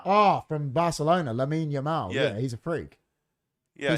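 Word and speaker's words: Lamine Yamal: the boot into him it's pronounced Lain yamal oh from Barcelona lamin yamal yeah he's a freak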